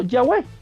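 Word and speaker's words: Yahweh: como llaves o yagüe también las transcripciones griegas indican que el tetra grama ton debía ser pronunciado ya web pero de qué otra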